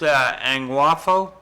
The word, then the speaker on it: Angwafo: visit LEL one day beautiful he his name's pronounced Ang waffo his father was uh is royal king angao